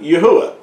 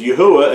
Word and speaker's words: Yahweh: that means praise unto Yahweh and so you know even our creator uh has given us witness that his the first part of his name is pronounced yah and not ye that's why his name